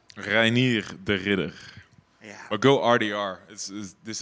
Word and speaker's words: Reinier de Ridder: Give me the proper pronunciation of your name. Reinier de Ridder.